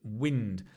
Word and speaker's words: wind: Notice the pronunciation, wind, because there's another word, which is wind, which is to wind something, but wind is right, the wind in the sky.